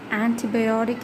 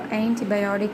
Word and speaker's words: antibiotic: I say antibiotic in British or antibiotic in American, a medicine such as penicillin or its derivatives that inhibits the growth of or destroys the microorganisms.